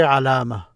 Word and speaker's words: علامة: But if I stop here, I would say علامة, ma, ha, just like a light ha, علامة.